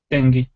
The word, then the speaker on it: dengue: Zika is similar to, how is it pronounced, Fiona? Dengue fever? Dengue.